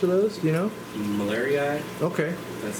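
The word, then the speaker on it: marlieri: of jul chromis are those do you know malari okay that's how you pronounce it yeah I almost order like these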